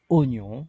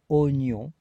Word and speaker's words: oignon: Le mot oignon se prononce oignon et ne se prononce pas oignon. Alors pourquoi il se prononce oignon? Parce que nous devons en fait diviser le mot en trois parties. Première partie O, deuxième partie gneu, le son gneu, IGN, I, et enfin finalement la nasale on, ON, oignon.